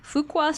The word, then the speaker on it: Fuqua: his master's of business administration from Duke University's Fuqua School of Business did I say it right